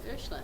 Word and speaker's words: Ursula: Did I pronounce it correctly? Yeah, I think so. Ursula is how I say it.